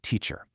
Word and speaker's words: teacher: Take a word like teacher. We've got a primary accent followed by a weak, unaccented syllable, right? Teacher.